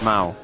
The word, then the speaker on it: Mao: But spelled with a au cuz that's my name. What? Mickey Mouse. Ah, Mickey Mouse. Mau. Yeah. Yeah. Yeah. Yeah. My name is Mao.